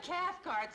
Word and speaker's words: Cathcart: Rhymes with heart. Esther Cathcart, silly.